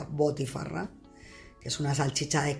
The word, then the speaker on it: botifarra: Nosotros la conocemos como butifarra, pero allí se pronuncia botifarra, que es una salchicha de carne de cerdo condimentada con hierbas y especias locales.